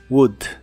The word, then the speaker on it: would: cuanto a la pronunciación no se pronuncia la o ni la l de esta palabra solo la u corta y explosiva de en medio Wood Wood Y esta es la